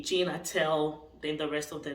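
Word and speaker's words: Gene Attell: to spell okay and how does this sound when it's pronounced okay I'll give you an example so I we have the celebrity um Amy Schumer who named his son Jean g-e-n-e atel okay Gina tell then the rest of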